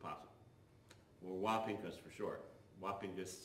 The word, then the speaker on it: Wappingers: Wapinkus sounds like how you should pronounce Wappingers.